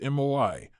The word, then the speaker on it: moai: This approach is embedded in Japanese culture through the concept of moai, pronounced MOI, social support groups that form in childhood and continue throughout life.